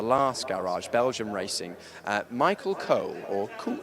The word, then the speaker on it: Cool: Michael Cole, or Cool, it looks like Cool, but it's pronounced Cole, I'm told.